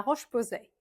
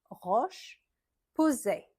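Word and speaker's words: La Roche-Posay: Bonjour bonbon on je recommence en on Clarence Clarence on prononce le S. Clarence la roche posé. La roche roche posait.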